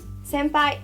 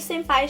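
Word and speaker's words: 先輩: Você não pode falar senpai, sem sotaque de brasileiro. Então, quando você vai chamar, você tem que falar senpai. Tem o senpai, tá? Senpai. Não é senpai, é senpai, tá?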